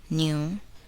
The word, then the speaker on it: knew: The letter k is not pronounced in the following words. Listen and repeat each word after the speaker. Know, knew, knowledge, knee, knife, blackguard.